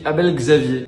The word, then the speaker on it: Abel Xavier: À droite, j'ai mis Abel Xavier. Je le prononce à la française pour être sûr de pas faire de bêtises.